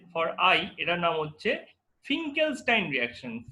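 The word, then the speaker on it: Finkelstein: তো number A হচ্ছে for iodide, ঠিক আছে, ফর আই এটার নাম হচ্ছে ফিঙ্কেলস্টাইন রিঅ্যাকশন। ফিঙ্কেলস্টাইন, উচ্চারণটা স্টাইন হচ্ছে বাট অ্যাকচুয়ালি হবে স্টেইন, ঠিক আছে, রিঅ্যাকশন, ঠিক আছে।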